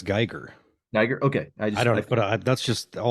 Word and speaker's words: Giger: Is it Giger? Geer? How do you're How have you heard it pronounced? I've heard it pronounced I've heard it pronounced both ways. I I believe it's Geer.